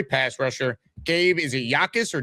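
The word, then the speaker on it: Jacas: Illinois pass rusher Gabe, is it Yakis or Jacus? How do we actually pronounce his name? Yakis. Exactly. The Jay is the Jay is silent. So, Gabe Yakis, Dom, what do we need to know about him?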